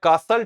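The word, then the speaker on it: castle: टी का मतलब टा। साउंड आ रहा है। कासल टाय आ ही नहीं रहा है। है ना? टी साइलेंट हो कासल मींस किला होता है।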